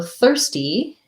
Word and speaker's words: thirsty: a good one so thirsty i'm thirsty um has uh the ir spelling but it has the er sound so that's similar to